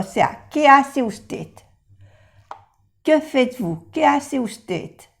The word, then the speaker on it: faites: Por ejemplo, que faites-vous? Que faites-vous? Faites no se pronuncia la E ni la S.